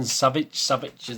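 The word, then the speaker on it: Savić: Stefan Savic, that's how you pronounce it.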